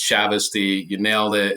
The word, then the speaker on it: Chavoustie: your number one just because of the pr pronunciation of my last name I me you got it 100% it's shavy you nailed it it's it's so hard to